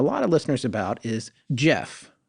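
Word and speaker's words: Gef: But you know what it doesn't sum up, and what we've been hearing from a lot of listeners about is Jeff, which is spelled G-E-F, right?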